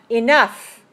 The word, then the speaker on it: enough: but another one is when you pronounce the G H sound like an F so we save tough and rough and enough so it's that strange